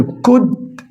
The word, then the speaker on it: could: طيب كان يسافر، كود اليو ال سايلنت لا تنطق.